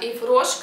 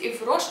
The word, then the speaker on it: Yves Rocher: Я все-таки не удержалась и взяла себе карандаш розовый от Yves Roche. Кстати, правильно говорить Yves Roche, а не Yves Roche, как оказалось.